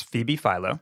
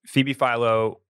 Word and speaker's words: Phoebe Philo: It's Phoebe Philo.